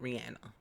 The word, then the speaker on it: Rihanna: Let me say her name right, Rihanna.